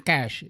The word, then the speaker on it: cache: Ya, sama kalau kamu pengucapan itu sama dengan cash untuk uang. Ya, jadi orang biasa bilang cache, tidak, teman-teman ya, ini bacanya cash.